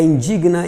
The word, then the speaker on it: indigna: Eles têm a sílaba tônica, o verbo, né? A sílaba tônica é essa vogal com o G mudo aí, tá? Então, é indigna, impregna e repugna, certo?